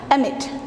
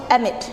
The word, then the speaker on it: amid: Yang pertama, kita punya kata amid, ya, amid. So it's supposed to be pronounced with schwa, amid, amid.